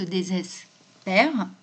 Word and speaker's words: désespère: La prononciation est différente. On dit bien désespérer, alors qu'on dit Yvain se désespère, et du coup, l'accent d'aigu devient grave.